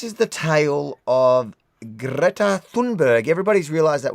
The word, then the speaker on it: Greta Thunberg: So, this is the tale of Greta Thunberg. Everybody's realized that we've been saying her name wrong the whole time. Now, it's I've been saying Yeah. I've been saying Thumbberg. I didn't realize it's Thunberg.